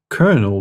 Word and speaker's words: colonel: Why is the rank of colonel pronounced colonel despite not having any R's?